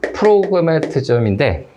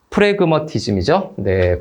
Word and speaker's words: 프래그머티즘: 그래서 이렇게 체크를 했고, 그 다음에 네 번째는 프로그매티즘인데, 발음이 좀 꼬였나요? 프래그머티즘이죠.